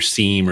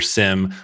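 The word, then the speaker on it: SIEM: and logging tooling like your seam or your sim whichever way you want to pronounce it your vulnerability audit scanners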